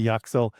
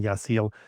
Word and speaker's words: Yaxel: Yasil is what I've heard from other Spanish speakers.